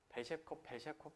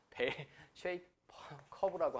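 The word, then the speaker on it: bell-shaped curve: 제가 대학교 갔을 때 우리 교수님의 발음을 잘 못 알아들은 경우가 있었는데 벨셰콥 해서 제가 못 알아들었어요. 벨쉐이커브라고 합니다. 영어로 쓰면.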